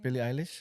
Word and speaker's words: Billie Eilish: Billie Eilish.